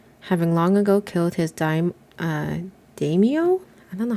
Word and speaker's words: daimyo: So according to my husband, it is pronounced daimyo.